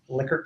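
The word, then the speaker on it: Likert: metric we often see these ler scales liquer scales if you're pronouncing it correctly and here is a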